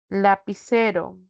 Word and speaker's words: lapicero: Entonces digo, por ejemplo, eh, lapicero. Lapicero es una palabra grave. Lapicero, sílaba tónica es C.